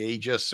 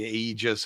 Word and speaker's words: aegis: see the supervisors or the aegis or the aegis however you want to say it uh which i checked both are proper pronunciations apparently but well they don't